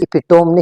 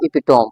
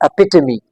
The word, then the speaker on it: epitome: in English language with a weird and strange pronunciation. Is epitome nahi hai. This is not epitome, okay? The actual or the precise or the accurate pronunciation of this word is epitome.